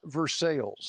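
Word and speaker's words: Versailles: that is in versales now in Indiana it's pronounced versales really not ver like that's versales right on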